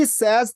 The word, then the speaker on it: says: 자, he says that 이것도요. 그때 발음을 그 아브라함 티처께서 알려주셨지만 says가 아니고요.